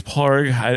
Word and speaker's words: Padraic: My middle name is Parg, and it's P-A-D-R-A-I-C. So I grew up saying Padraic, but I've been, you know, over the years, people have told me that it's pronounced Parg.